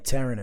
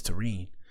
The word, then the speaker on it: Terrine: Her name is pronounced Tene. I didn't want to say it. I didn't want to say it wrong. I was saying Taran in my head. Taran sounded cool. But her name is Tarine.